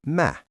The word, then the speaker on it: Mä: use the spoken form for I, which is ma.